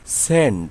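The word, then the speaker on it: scent: যেমন এস সি ই এনটি সেন্ট। এখানে এস সি থাকায় সি এর উচ্চারণ হয়নি।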